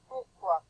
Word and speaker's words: pourquoi: Does anybody know how to pronounce that word? It's French. Let me show you. Come on over here. Pourquoi?